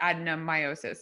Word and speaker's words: adenomyosis: And this user, Melige Riley, has had many failed IVF attempts, and it's sort of said that it's her adenomyosis.